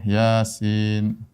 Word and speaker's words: Yasin: Yasin. Dibacanya bukan thh diya bukan yes atau yas bukan ya.